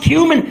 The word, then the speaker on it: cumin: It's pronounced cumin, and now you'll never forget.